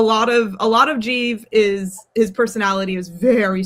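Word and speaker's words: Giev: Uh but I think the consistent answer is Jeie. Uh who in the pronunciation guide, he is one of the reasons I have a pronunciation guide. His name is spelled G I E V, but it's pronounced Jeie, like the city of Keev, you know, like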